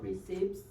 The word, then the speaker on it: receipts: to submit the original receipts receipts receipts no P okay it's silent P receipts all together receip receipts